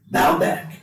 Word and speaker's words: Baalbek: How do I pronounce Baalbek? Baalbek, which is one of the original places of the worship of Baal.